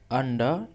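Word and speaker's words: under: सो ही हड himself अंडर the blanket. अब यहां पर अंडा जो है इसमें अंडर र नहीं पढ़ते हैं। आर यहां पर साइलेंट होता है। तो इसे अंडा अंडा अंडा सो ही मतलब वह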